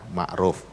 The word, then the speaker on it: Ma'ruf: bener Ma'ruf apa gimana saya tanya ini bacanya gimana bu ya bacanya Ma'ruf kalau gitu tambah amin